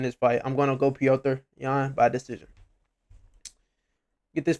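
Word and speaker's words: Petr: It's Peter Yan, Piotr. But Piotr Yan should win this fight. I'm gonna go Piotr Yan by decision.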